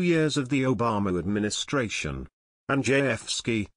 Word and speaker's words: Andrzejewski: Andrzejewski, pronounced Andrzejewski, noted that there are now 110 fewer White House employees since Obama left office, saving nearly $5 million alone.